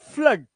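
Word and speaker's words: flood: हुड ठीक है एंड फ्लड क्या है आ की आवाज फ्लड ब्लड इसमें आ की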